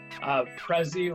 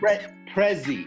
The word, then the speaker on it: Prezzie: So, Prezzie, like present. Prezzie. Prezzie, yeah.